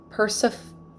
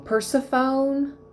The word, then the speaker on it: Persephone: not inanna I'm hearing Persephone Persephone Persephone I'm pronouncing that wrong Persephone in most Greek names with an e at the end the E is pronounced Persephone Persephone the story